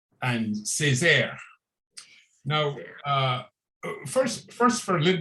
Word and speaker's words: Césaire: We are going to be discussing a poet that I do not know much about, but his name is Aimé Césaire. Did I pronounce that right, Deacon?